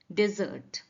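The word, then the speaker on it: desert: of words है डेजर्ट इनके pronunciation में भी डिफरेंस है स्पेलिंग में भी डिफरेंस है और मीनिंग में भी डिफरेंस है तो पहला वाला जो आपका है डी ई एस ई आर टी रेगिस्तान इसको कहते हैं डेजर्ट डेजर्ट सेंटेंस समझते हैं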